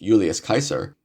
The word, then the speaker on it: Julius Caesar: but another prominent Roman Julius Caesar was in the city his name is more correctly pronounced Julius Kaiser but I won't assault